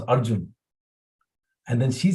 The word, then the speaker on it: Arjun: He said, you can say R and June, month June, R June. And then Guru Maharaj was happy to see that Dr. Vinay Prabhu's service, that he helped her to pronounce Arjun.